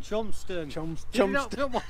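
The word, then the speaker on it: Cholmondeston: How do you pronounce this? Colmston? Chomston.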